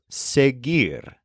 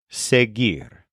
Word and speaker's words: seguir: explore the Spanish verb seir spelled s e g UI r with a silent U sear this is a complicated